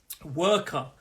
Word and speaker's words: worker: 2-syllable word. Worker. Stress is on that work. No joke there. Stress, work. Worker. And I know it's spelled W-O-R-K, but we pronounce it work.